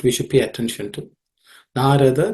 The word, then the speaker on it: Narada: Narada, they are all unaspirated consonants, so it should be simpler to say.